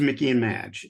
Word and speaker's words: Mickey and Madge: It is Mickey and Madge.